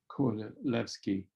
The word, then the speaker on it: Kordylewski: That's Kordylewski, Kordylewski, because the Poles pronounce a W like a V in the same way the Germans do when you say Wagner.